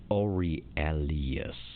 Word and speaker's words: Aurelius: angelino i am so glad you had to pronounce that name because that was not happening here it's ori alias they become involved in an occult yep these